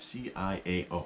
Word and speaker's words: ciao: the world is that c-i-a-o how do you pronounce that well it's pronounced ciao and it's italian so it's italian so